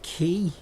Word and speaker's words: quay: you passage to their City pronounced key Shady key you idiot thanks At Your